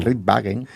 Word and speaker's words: Rittwagen: ¿Está bien pronunciado? Perfecto, perfecto. No, Wagen. Ritvagen.